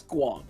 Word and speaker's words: squonk: It's squonk. It's pronounced squonk.